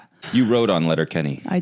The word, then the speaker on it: Letterkenny: You wrote on Letter Kenny.